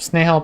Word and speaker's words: Snehal: her name is nehal I think it's pronounced snail pagi but um it's written snehal page like a page of a book snail page is her